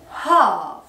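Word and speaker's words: half: اسمه هاف. هاف ا هاف، يبقى النص اسمه ايه؟ ا هاف. ال سايلنت مش بننطقها.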